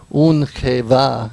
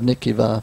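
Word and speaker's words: ונקבה: And they kind of put these together where it's actually in ancient Hebrew they pronounce it Unkeva instead of Nikiva, but that's okay.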